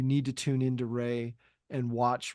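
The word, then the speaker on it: Wray: three dimensions you need to tune in to Ry and watch Ray Ry is spelled w r a y raeline uh I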